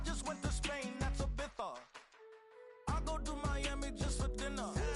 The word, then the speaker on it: Ibiza: Ibiza Ibiza yeah it's pronounced Ibiza actually.